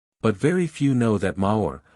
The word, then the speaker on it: maor: very few know that maor pronounced nearly like the French word is still the Highland